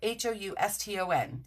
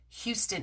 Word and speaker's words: Houston: New York City rather there's a street and it's spelled Hou sto N and you would think that it is like Houston in Texas but in New York City we